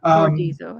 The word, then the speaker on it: Bordizzo: Bordizzo, I think that's right.